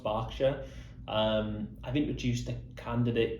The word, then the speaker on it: Berkshire: program in a place i thought was called berkshire i spoke to over 80 people and it was only number 83 that let me know it was actually pronounced berkshire um i've introduced a candidate called what i